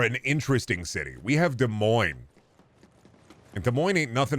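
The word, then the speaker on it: Des Moines: home about De Moine people don't even know how to pronounce de Mo they call it Des moies Indiana is really lame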